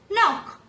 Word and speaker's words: knock: We don't pronounce know, but we pronounce know. No, knowledge, knock.